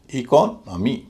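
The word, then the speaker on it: economy: वाई से पहले ओ है वह हल्का होगा। उच्चारण होगा अ और उससे पहले एक और ओ है वह भारी होगा। उसका उच्चारण ओ और उससे ही पहले जो इ है वह फिर हल्का हो जाएगा क्योंकि भारी सिलेबल से पहले वाला सिलेबल हल्का होता है। इस तरह पूरे शब्द का उच्चारण होगा इकोनमी। इकोनमी हल्का भारी हल्का भारी इकोनमी।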